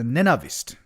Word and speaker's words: Navist: You can he says the name could be pronounced as a navist.